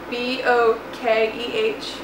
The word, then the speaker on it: bokeh: B-O-K-E-H. A lot of people don't know how to pronounce it. It's bokeh.